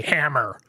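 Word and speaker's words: HAMR: for a while HR pronounced the obvious way hammer and what this allows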